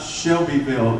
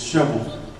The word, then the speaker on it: Shelbyville: you come to tennessee it's not shelbyville it's shovel shovel one syllable shovel big to find